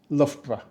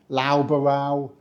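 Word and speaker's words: Loughborough: going to get wrong it's pronounced lra we do not say laow or low borow or luga baruga which has been said to me before and this one the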